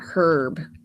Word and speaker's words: herb: say a but not herb the H is silent they say herb herb